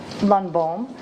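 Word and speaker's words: Lundbohm: Lunbalm. First name is spelled B R O K E.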